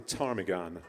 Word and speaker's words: ptarmigan: The M is silent, as in ptarmigan.